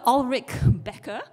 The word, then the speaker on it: Ullrich Ecker: And I will try to pronounce his name in the proper German way, although I might sound fake. But his name is Professor Ullrich Becker from the University of